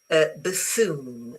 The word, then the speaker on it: buffoon: This word is stressed on the first syllable, not the second. Very good. It is false. Yeah, because it's buffoon. So this basically, the stress is on this bit, on the foon. Okay, so it's remember that it's not stressed on the first syllable. So this U is a schwa.